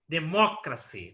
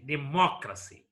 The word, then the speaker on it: democracy: called ante penultimate syllable certain words ending in C Y T yph ygy take the stress on the ante penultimate syllable in case of polysyllabic words for example democracy democracy democracy here stresses mark on the third syllable from the last one responsibility responsibility yeah